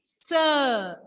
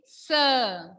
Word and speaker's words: ç: Okay, and when sedia will come along with letter C, pronunciation of that letter will be sir. Pronunciation will be sir.